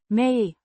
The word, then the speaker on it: mee: Pronounced. Mee. Similar to the English word.